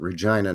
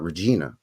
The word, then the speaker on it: Regina: But we pronounce it Regina, not Regina.